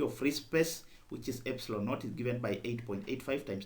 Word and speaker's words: epsilon naught: this is the epsilon it is uh pronounced as epsilon naught so this is the